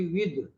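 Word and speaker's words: with: हाँ, ये इसको विथ बोले ना आप। हाँ। हाँ, तो ये हम लोग को आदत पड़ गई है विथ बोलने की। ये होता है एक्चुअली विद, दो, वो में हर सही दो, विद।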